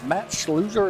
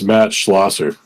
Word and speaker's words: Matt Scherer: pronouncing your name right match loser is that how you say it hey it's Matt Scherer go man rednecks you